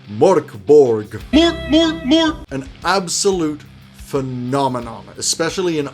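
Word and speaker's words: Mörk Borg: list is MB or how most people including myself clumsily pronounce it Mor Borg an absolute phenomenon especially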